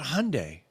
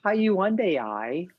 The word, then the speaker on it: Hyundai: Tony has a story about Hyundai. Or, as Mark Hawken would say, Hyundai. It wasn't the one I expected when I saw their name either. So, Hyundai, I'm trying to get every possible Like Sunday.